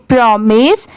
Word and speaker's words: promise: PRO प्रो होता है और MISE मिस होता है। ठीक है, बहुत सारे जगह पर इसे माइस भी प्रोनाउंस किया जाता है, बट यहाँ पर इसकी साउंड क्या है? मिस की है।